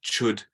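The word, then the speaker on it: Chöd: English speakers mispronounce Dharma words and they put the D on the end, like chud is a famous practice, which means cutting, and it's ch. And people pronounce the D, they call it chud or something, which almost sounds like chode, which is a bad word in English.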